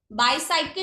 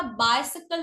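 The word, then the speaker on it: bicycle: एक और वर्ड है बायसाइकिल, बाईसाइकिल नहीं होता, बायसाइकिल होता है।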